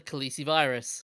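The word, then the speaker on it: calicivirus: no, this is a different spelling, but it's pronounced as the Khaleesi virus.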